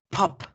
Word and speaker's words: pop: Siempre en inglés tenemos que hacer fuerza con la P para pronunciar las palabras. Entonces, por ejemplo, la palabra papa, potato, potato. La palabra pop, pop.